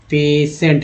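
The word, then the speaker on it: patient: अब इसमें टी को ट बोलते हैं, TI को श पढ़ा गया है, पेशेंट, है ना।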